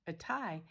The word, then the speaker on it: Athy: people rattling on about going to a Thai. And it's spelled A H Y, which is interesting, right? Spelled for us quite differently than it looks.